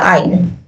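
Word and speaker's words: I'll: देंगे तो आपका बनेगा आइल। क्या बनेगा दोस्तों, आपका बनेगा आइल। इसे क्या बोलेंगे, आइल बोलेंगे हम। इसका प्रोनाउंसिएशन क्या है, आइल है।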